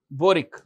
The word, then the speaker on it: Boric: capital is Santiago and the president is Gabriel boric Gabriel boric b o r i c boric